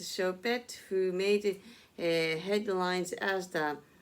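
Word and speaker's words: Choupette: Ramaswamy, and the late Carl Lagerfeld's cat, Chopet, pronounced Chopet, who made headlines as the Met Gala honored the late Chanel designer.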